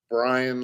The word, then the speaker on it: Brein: To tell you the truth, my last name is pronounced Brian like lion and I'm telling the truth.